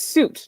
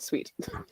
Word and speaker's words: suit: first time reading this it's suit not sweet Chanel suit what yes what is